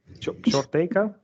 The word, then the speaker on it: Ctortecka: and your last name I'm gonna pronounce short taker is that right that is perfect awesome so um